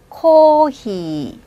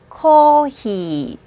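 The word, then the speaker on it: コーヒー: 똑같이 초금, 작은 쯔 발음을 해서 사카, 사카. 수프는요. 스프, 스프. 케이크입니다. 케이크. 케이크. 커피죠? 코히. 코히.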